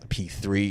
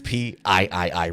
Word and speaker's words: PIII: Anyone that pronounces it as P3 is doing it incorrectly. It's PIII. Repeat after me.